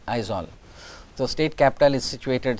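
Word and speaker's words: Aizawl: z over isol so you have to pronounce it as isol so state capital is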